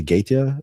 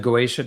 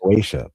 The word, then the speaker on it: Goetia: The Gaeta Diaries? The Goetia Diaries. Goetia, please forgive me.